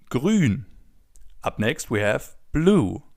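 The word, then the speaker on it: grün: As you already know, the oo with the two dots on top is pronounced oo as in grun.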